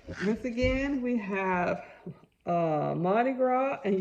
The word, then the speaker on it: Mardi Gras: again we have uh mardi gras and you do not pronounce that s so if you say marty grass that's wrong but if